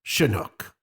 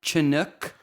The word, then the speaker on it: Chinook: to say it's pronounced chinook it's not Chinook chinook chinook okay it's such a nuke helicopter it's a Native American word not a British word and you pronounce it